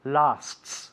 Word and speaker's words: lasts: and a half minutes be careful the pronunciation of lasts lasts two s's there it's quite tricky so Juan this part